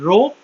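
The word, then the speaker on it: rho: ये क्या है बच्चों, दिस सिंबल इज कॉल्ड रो, इसको प्रोनाउंस ऐसे करते हैं।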